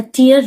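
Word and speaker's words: tear: यहाँ पर हम नाउन की तरह इस शब्द का प्रयोग कर रहे हैं, तब हम इसका प्रोनाउंसिएशन टीयर करेंगे. अब टेयर कब पढ़े? टेयर का अर्थ होता है फाड़ना. ठीक है. जब हम इसे वर्ब की तरह प्रयोग करेंगे इस शब्द को, तब हम इसे टेयर पढ़ेंगे.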